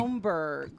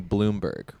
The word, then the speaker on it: Bromberg: It's a lot of people call me Bloomberg, which isn't not how it's spelled at all, but it's the closest thing they know. Yeah, not even phonetically there.